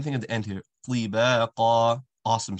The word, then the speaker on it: طباقا: طباقا, awesome sound. Letter ta is always going to be an awesome sound.